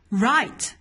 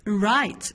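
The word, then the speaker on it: write: need right خدوا بالكم انا ما نطقتش حرف الدبليو، نطقت الار على طول، قلت right اوكي.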